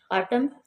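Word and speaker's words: autumn: ऑटम, ऑटम में N silent है।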